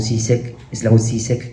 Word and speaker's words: Žižek: este es el famoso Slavoj Žižek, que en este libro delirante cita a Hahn